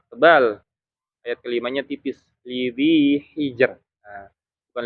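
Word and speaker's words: لذي حجر: Lidhi hijr. Nah, bukan lidhi hijr. Nah, kalau ada yang baca lidhi hijr kurang tepat dia. Karena harusnya bacanya tipis.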